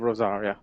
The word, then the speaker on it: Rosaria: All right, Port of Isolde, the Imperial Providence of Rosaria. You actually pronounced that correctly, I think.